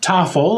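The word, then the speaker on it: Taffel: taffle or t uh taffle um you rhymes with waffle all that teasing in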